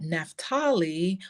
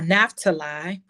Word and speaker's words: Naphtali: you would know that nephtali or naftali depending upon how you pronounce it that particular tribe